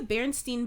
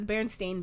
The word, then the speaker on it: Berenstain: i said it wrong it's not the berenstein bears you guys know that right it's the berenstain bears that was like one of those mandela effect because everyone remembered it being berenstein but it's not bear